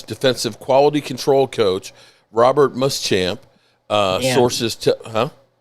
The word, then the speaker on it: Muschamp: Uh coaches, the Cowboys are hiring, uh Chargers defensive quality control coach, Robert Muschamp. Uh sources, Huh? Did I mispronounce it?